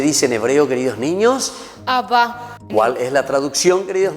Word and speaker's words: Abba: Muy bien, y esa es la palabrita que dijimos hace rato, que en hebreo se dice Abba, que quiere decir Padre. ¿Cómo se dice en hebreo, queridos niños? Abba.